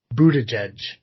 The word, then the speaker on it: Buttigieg: Did we talk last time about Buttigieg being, how do you pronounce it, Joe? Buttigieg.